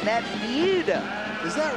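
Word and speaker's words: Buda: Ron Hawkins is up next he's out of Buddha Texas you know I got the cor correct pronunciation that Bea is that right yeah Bea Texas what they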